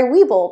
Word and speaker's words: Webull: So for those of you who aren't familiar with Webull, Webull is an app and it's spelled W-E-B-U-L-L, like a bull, like an animal.